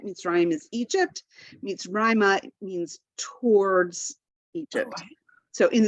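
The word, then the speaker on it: מצרימה: The second pashta tells us that that's where the accent is. So the accent is on Rai. So different from Mitzrayim, right? Mitzrayim is Egypt. Mitzrayma means towards Egypt.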